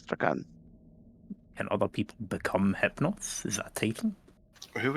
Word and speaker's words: Hypnos: Or Hypnos, or how you That is pronounce it.